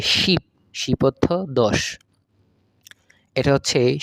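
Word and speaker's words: 십: শেষেরটা হচ্ছে তালেবশ্য রসিকার নিচে আছে প উচ্চারণ হবে শিপ শিপ অর্থ 10 এটা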